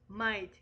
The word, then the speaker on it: might: Might is sometimes hard to understand because the final T is often not clearly pronounced.